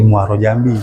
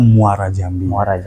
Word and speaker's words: Muara Jambi: Sementara kan apa ee warga ee kebanyakan mengenal candi itu Candi Muarao Jambi. Muara Jambi ya. Yang benar itu pengucapannya adalah Muara Jambi.